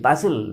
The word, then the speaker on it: bustle: there was a great bustle bus tle basil basil means some exciting sounds or some some excitement and some noisy situation that is called basil busta here s a t is t is silent muscle there is a